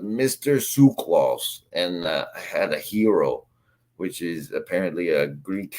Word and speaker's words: gyros: yay they're they're they're they're spelled Gyros but they say them hero I had the I had the Greek restorant Lady say it so I didn't have to I didn't want to say it wrong in front of her they C and she called it a hero so um yeah that's